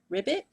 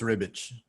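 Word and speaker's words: Ribić: Esad Ribic. I think it's Ribbich. I think it's Ribbich.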